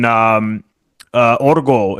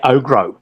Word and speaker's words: Ogro: And I hadn't seen Operation Orgo. Is it? I think it's Orgo. I believe. I think I mispronounce it because I say Ogro, but it's Orgo.